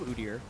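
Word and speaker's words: Udyr: uder pick though and I'm not going to change my pronunciation of uder as many people that will tweet me elsewise I think it's the way you should say it uh but it's a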